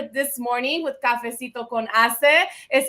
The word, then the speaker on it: HACE: morning with cafesito con hace right you got to make sure you pronounce the h right he is the founder